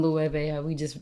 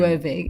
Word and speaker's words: Loewe: Like but, even Loewe, we were just realizing. Yeah, I really thought it was low. Which is crazy. Because who would think that the W... Loewe, yeah.